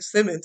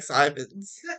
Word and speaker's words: Simons: It doesn't look like Simmons. It looks like Simons. They just read it wrong a lot.